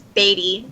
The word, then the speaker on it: Beatty: Chris Taylor and Catherine Batty. How are you two doing today? Good, but my name is Beatty. Beatty. Batty has two T's.